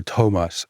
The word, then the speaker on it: Thomas: thinking oh no so it's not Thomas it's Tomas it is Tomas and it's hard o long o Tomas the two whole the CH family is really